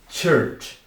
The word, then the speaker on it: church: Cuidado com a pronúncia. Tem esse U aqui, mas tem o som de Então é tir e os dois chs, tanto o do começo quanto o do meio que um som de t de tchau.